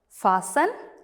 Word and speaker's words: fasten: They all have a silent T.